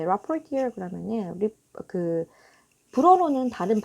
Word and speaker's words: rapporteur: UN rapporteurs urges North Korea to punish those responsible for killing of South Korean citizen at sea 라고 했습니다.